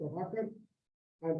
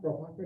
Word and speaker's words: Prabhakara: When I'm in Bengal, it's called Prabhakar. Somebody thinks it's Prabhakar, and I say it is not Prabhakar, it's Prabhakara. It is like Karnataka, Deve Gowda Masala Dosa.